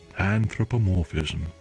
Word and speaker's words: anthropomorphism: The lecturer begins the class with today's topic, anthropomorphism. That's how you pronounce it.